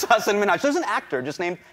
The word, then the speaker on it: Hasan Minhaj: Well, my name is Hasan Minhaj. Oh. She pronounced it as Hasan Minhaj rather than Hasan Minhaj, prompting him to correct her.